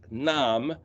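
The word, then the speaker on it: נאם: Nun, Aleph, Mem, pronounced Nam, similar to the English word name.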